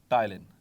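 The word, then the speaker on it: ptyalin: रखना है, ठीक है, टाइलिन। सो पी साइलेंट होता है आमतौर पर।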